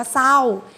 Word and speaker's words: เศร้า: แรก เพียง ตัว เดียว เช่น เดียว กับ คำ ว่า เศร้า เห็น ไหม คะ เศร้า มัน ออก เสียง เป็น ตัว อักษร เสือ 2 เอา สาว ๆ ไม่ โทร เศร้า มัน ไม่ ได้ ออก เสียง ตัว รอ เรือ เลย ดัง นั้น มัน เป็น